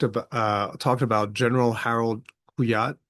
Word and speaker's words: Kujat: Um in their discussion, they talked about talked about General Harald Kujat, spelled with a J. In In German, J is a Y sound, so Kujat uh k u j a t.